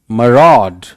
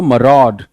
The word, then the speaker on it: maraud: आलोक पूछ रहे हैं सर MARAUD को बोलिए, दैट इज मरॉड, मरॉड। अब आप खुद देखो, मरॉड, रॉड पे ज्यादा जोर है।